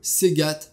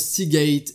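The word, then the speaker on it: Seagate: disque dur physique le segat Baracuda en intra disque dur 3.5 pouces qui tourne à 7200 tours par minute et oui je sais ça se prononce se gate et pas seat mais j'aime bien dire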